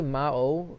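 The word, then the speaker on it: 魔王: Yeah, Tatsumao was it was a reference to this anime, and actually, basically Mao is actually how it's pronounced. Is a Japanese word that means demon lord in Japanese, and I just put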